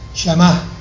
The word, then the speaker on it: Shammah: Shama se escribe S-H-A-M-M-W-M-A-H, Shama.